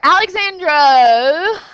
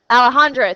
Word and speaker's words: Alejandra: we've got number four Alexandro Alejandro how do you pronounce that somebody Alejandra thank you invested $150 in